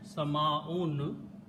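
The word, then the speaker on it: سماء: This time, if I take these two letters, Seen, Mim, and put an alif, Sama, and pronounce it Sama'un, last letter will have Dhamma.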